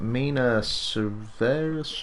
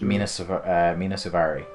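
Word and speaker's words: Mena Suvari: Mina Suvari? Mina Suvari.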